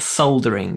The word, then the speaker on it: soldering: call it soldering soldering why there's an L I don't know I just say it the way I've heard it my entire life it's definitely not soldering it's even sounds rude soldering soldering with an l s o soldering soldering there is an L in it I will give you